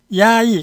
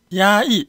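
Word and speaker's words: 压抑: 중국어로는 야이 감정입니다. 야이 보세요. 우리는 억압이라 그러죠. 중국 사람들은 반대로 압억이는 야이, 억누르다. 감정 이 발음 반삼성입니다. 내려갔다 올라가는 거.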